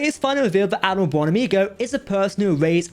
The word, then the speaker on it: Buonamigo: Now it is finally revealed that Admiral Buonamigo is the person who erased Ensign Rutherford's memory.